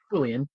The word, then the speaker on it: Boolean: or true false so that is Boolean pronounced Boolean uh not pronounced uh like this with uh Jolene so not so try